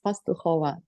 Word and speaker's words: Pastukhova: No, my right surname is Pastukhova. It's Pastukhova.